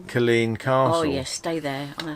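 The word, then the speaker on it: Culzean: for ticket we said well we're going to Cole's Ian's castle because it's CU l z EA n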